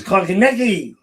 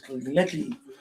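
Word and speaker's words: Konecny: It's Konechny. You got to say it right. His name is Konechny.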